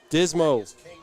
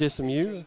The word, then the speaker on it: Dismu: And I'm going to pronounce that name as Dismo. Good job by Maybe White. it's Dismu.